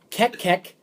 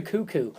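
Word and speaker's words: Koekkoek: this kid played out I used to call him kek K but when he got drafted his name nope Slater cuckoo but it's spelled KO e k k k who drafted him Tampa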